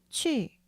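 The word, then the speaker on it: 去: 내어 따라 해보세요 가다가 취 이유가 우바 름이 아니라 이 발음이 에요 4 성으로 빠르고 강하게 떨어뜨리는 소리 가닥 취 취 1 먹다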